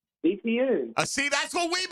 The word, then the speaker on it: Etienne: Etienne. I see, that's what we've been saying, brother, and he just he goes to New Orleans. He says, "No, it's Etienne."